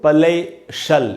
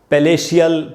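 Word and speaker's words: palatial: तो पलेशल, इसका मैंने उच्चारण कैसे करेंगे दोस्तों, पलेशल, इसको भी पलेशियल, पलेशियल इस प्रकार से नहीं पढ़ेंगे, पलेशल।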